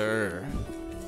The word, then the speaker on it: Ugur: Master Ur. I know it's spelled with an Ugur, like U-G-U-R, but, you know.